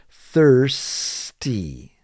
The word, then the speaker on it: thirsty: say the word correctly have that th sound and have the s there thirs thirsty thirsty and you say it all together it's thirsty i am thirsty i